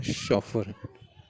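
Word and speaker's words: chauffeur: चौफियर नहीं, इसका प्रोनाउंसिएशन जो है शॉफर, शॉफर।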